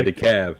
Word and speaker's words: DeKalb: yeah, the cab. Yeah. DeKalb is DEKALB, Mm-hmm. but the L is silent.